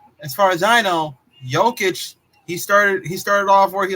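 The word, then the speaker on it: Jokić: It's Jokic. Jokic.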